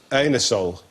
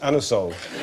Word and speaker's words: Anusol: You can't ask for anusol in that way in a shop. You have to pronounce it anusol.